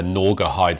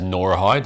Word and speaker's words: Gnawgahyde: Joe yet, so I've just got my hands on the Gnawgahyde figure. I've been mispronouncing that all day as Norahide, and Lee's just been commenting we can forgive as Nora Jones.